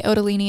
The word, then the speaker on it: Ottolini: The Italian way, Ottolini, and he pronounces it Ottolini, but I really do it for spelling. But all the Italians here produce it Ottolini.